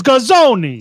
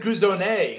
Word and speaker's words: Gazone: It's Gazone. See, in Texas, you pronounce it Guzone because you assume that they're no, you don't.